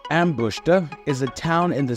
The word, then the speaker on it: Ambositra: ambositra or pronounced Ambush is a town in